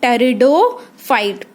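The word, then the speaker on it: Pteridophyta: वो ऑर्गेनिज्म जिनमें बीज नहीं बनता उनको हम क्या बोलते हैं, टेरिडोफाइट, पी साइलेंट है बच्चे यहाँ पे, टेरिडोफाइटा बोलते हैं।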